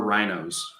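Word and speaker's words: RINO: most of them are rhinos or you know it's spelled r-i-n-o republican in name only rhino i mean just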